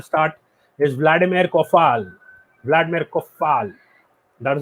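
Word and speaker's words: Coufal: points at the start is vladimir koffal vladimir koffal that's how we pronounce him he's done it in fpl as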